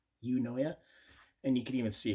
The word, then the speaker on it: Eunoia: razor here now this is the book it's pronounced you know yeah you know yeah and you can even see here if I